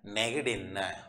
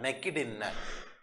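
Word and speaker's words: නැගිටින්න: ஆகவே நீங்கள் அந்த ஜி எழுத்தை எப்படி உச்சரிக்கணும் கி கி மெல்லியதாக நெகிடின்ன நெகிடின்ன நீங்கள் கே இந்த சத்தத்தில் சொல்லக்கூடாது நெக்கிடின்ன நெக்கிடின்னு சொல்லக்கூடாது பிள்ளைகள் நெகிடின்ன நெகிடின்ன என்று சொல்லணும் பிள்ளைகள்.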